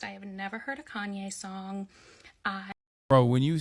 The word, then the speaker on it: Kanye: is 45 likes though I used to pronounce his name Kane because I'm a little dyslexic and that's how I read it but I was part